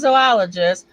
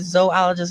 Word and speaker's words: zoologist: working directly for renowned zoologist dr conrad winningham notice i said zoologist and i zoologist i want to point out that is not pronounced zoo i you i don't